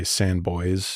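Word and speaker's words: Sans Bois: sanb OR sboy mountains it's it could be either pronounced either way I think depending on who's pronouncing it yeah the technical pronunciation is sand but I some of the locals say sandboy I feel like I've heard it pronounced by Oklahomans as sboy mountains but there's both which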